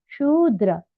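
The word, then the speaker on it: Śūdra: now very important here note the pronunciation of the word sudra it is sudra the word sh with a long sound Andra it is notra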